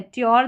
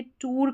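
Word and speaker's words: tour: ट्योर दे रखा है। यहां इसको ऐसे नहीं पढ़ेंगे। टूर करके आप पढ़ दें। टूर यहां पे उअर साउंड लग रहा है।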